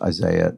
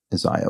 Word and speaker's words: Isiah: me in a comment is still pronounced Isaiah not Isiah which is sort of how it looks but uh so Isaiah Thomas yes a certainly